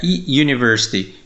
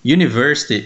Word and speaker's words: university: olá tudo bem é university university ele é pronunciado com som de y e ele é considerado